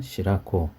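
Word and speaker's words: 白子: 이제 통틀어서 시라스라고 얘기하는데 여기서는 시라스가 아니라 똑같은 한자를 쓰는데 시라꼬라고 읽어야 됩니다.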